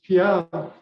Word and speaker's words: Pial: it's Native American pronunciation for Pierre. Pierre. Yeah, P-I-E-R. Yeah. Yeah. Oh, And that's in the coastal Salish, it's Pial, P-I-A-L.